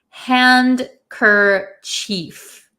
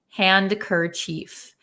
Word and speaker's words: handkerchief: h i e f so it really looks like hand Cur Chief hand cief um in American English we